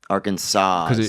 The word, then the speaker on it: Arkansas: you need a AR Arkansas yeah right yeah nobody says arkans and that's and that's